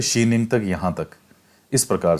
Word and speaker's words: Xining: तो हिंदी में ट्रांसलेट करके जाइनिंग लिख दिया, लेकिन इसका जो सही में उच्चारण है वो है शीनिंग।